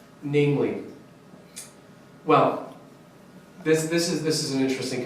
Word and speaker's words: viz.: Literally, like the literal title is VIZ period, which most people would pronounce viz. But when you're reading that word, you actually say namely.